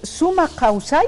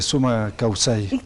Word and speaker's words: Sumak Kawsay: y de fides televisión El summa causay así se pronuncia Sí en quichua es suma causay significancia tiene en aimara